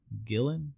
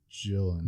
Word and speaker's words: Gillan: be pretty bad karen gillan yeah that is how you say your last name honey I think it's I think it's actually pronounced Jill and Jill okay I'm not